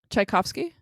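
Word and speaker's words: Tchaikovsky: goddaughter I'm going to highlight this can you pronounce this chaikovsky I made Jeff do that too and both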